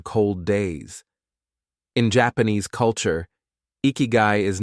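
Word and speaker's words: ikigai: In Japan, this powerful idea is called ikiguai, pronounced ikyu.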